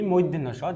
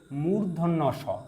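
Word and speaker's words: মূর্ধন্য ষ: স দন্ত স ওকে এরপরে এই বর্ণটিকে বলি মধ্যন্য স যা আমরা ভুল বলে থাকি এই বর্ণটির সঠিক উচ্চারণ হচ্ছে মূর্ধন্য স ওকে উচ্চারণটা দেখি আমরা মূর্ধন্য স মূর্ধন্য স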